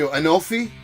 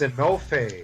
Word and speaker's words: Enofe: Well, tell me, Enofi, right? I said it right? I think it's Enofe. Enofe.